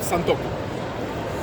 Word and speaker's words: santoku: all of these knives here okay are called santoku santoku means three virtues Santo Santo how do you spell it s a n t o q u